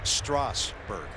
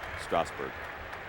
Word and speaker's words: Strasburg: And by the way, folks, it is Strasburg. I like when these guys mispronounce it. I've been on so many radio shows this week where we've had to get into being hooked on phonics. Big breaking ball. You and I have both asked him, how do you want your name pronounced? Strasburg.